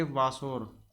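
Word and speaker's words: Wasser: में कह देते हैं इसको कहेंगे वासर क्योंकि जर्मन में था का उच्चारण सा से होता है वा स्प्रिंग को क्या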